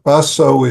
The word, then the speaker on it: Baso: Baso is Japanese way of explain uh pronouncing his name. In Chinese it's matsu. Ma ba means horse. Sue is ancestor. So ma is his family name and it's be become is dharm apart